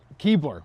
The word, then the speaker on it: Keabler: So, Keebler. Yes. Not like the cookies. Not like the pronounced but not spelled the same.